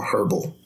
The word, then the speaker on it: herbal: The diet, the normal, and then the herbal. Herbal. There's an H in there. Yeah, I know. is the H silent? Yes.